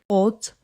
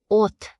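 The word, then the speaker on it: 옷: At the end of a syllable, several different consonants collapse into one single "d" sound.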